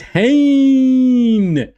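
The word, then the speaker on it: Hien: You're not supposed to drag it out. Sounds like you you put in the name itself, right? It's supposed to be Hayne. Isak Hayne.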